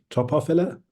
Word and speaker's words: Topophylla: and Eric Arneson, who have a business called Topophylla. Am I pronouncing that right? Topophylla?